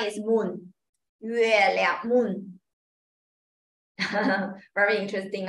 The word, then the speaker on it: 月亮: So pinyin first Pinyin is help you to pronounce Okay 谢谢谢谢 Thank you好，next 月月月亮，月亮 is moon，月亮 moon， very interesting 啊，moon is 月亮，月亮